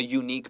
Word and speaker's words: unique: So a unique person. 没错，即便它是 U-A-E-I-O-U 母音带头，可是它的发音是 unique，不是真正的母音，所以你要说 a unique，就像我们会讲 a university 是一样的。